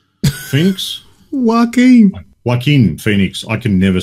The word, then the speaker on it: Joaquin: Yaquin? Phoenix? Joaquin.